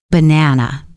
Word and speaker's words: banana: For example, listen to this word, banana. We don't say ba-na or ba-n-a-na. We say ba-n-a-na. The stress is on the middle syllable.